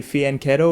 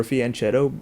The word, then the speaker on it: fianchetto: addition to setting up a fieno or fianchetto depending on how you prefer to pronounce it um why is